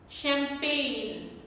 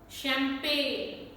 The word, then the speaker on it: champagne: on this word champagne champagne many non-native speakers mispronounce this word here we have gn combination and g is not pronounced and ch also is not pronounced as char it is pronounced as sugar then we have so